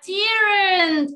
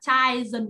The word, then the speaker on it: children: Nhiều bạn sẽ rất là hay lẫn lộn là children. Bởi vì chỗ này đọc là gì nhỉ? Child. Đúng không? Thì bạn lại đọc ở dưới A đây rồi. Nhiều đứa trẻ đọc là children. Đúng không? It's not. It's children. Đúng không?